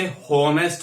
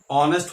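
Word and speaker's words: honest: आई am sorry to से बहुत से स्टूडेंट्स इसे हॉनेस्ट पढ़ते हैं, जो कि गलत है। ऑनेस्ट होता है, सही प्रोनाउंसिएशन ऑनेस्ट है।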